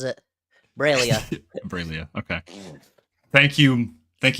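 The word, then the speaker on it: Breil'lya: of uh filia's AIDS I believe it's bra braia braia remember was that's how the audio book pronounces it braia braia okay thank you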